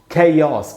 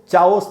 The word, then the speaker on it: chaos: उसके बाद दोस्तों ये वर्ड CHAOS, कैओस पढ़ेंगे, कैओस। कैओस, कैओस का मीनिंग होता है कैओस, ऐसे पढ़ना है इसका। मैं अच्छा मैं आपको बता दूं, मैं हिंदी मीडियम से पढ़ा हुआ हूँ, तो जब ये वर्ड मैंने सीखा था बहुत कम एज में, जब मैं स्कूल में था, तो मैं इसको चाओस पढ़ता था।